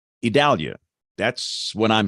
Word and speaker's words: Idalia: an ice storm and then d-a-l and in my world that's Dow like Dallas uh if it's dull it's d-a-h-l but in the pronunciation guide from the hurricane center it's d-a-l idalia that's what I'm saying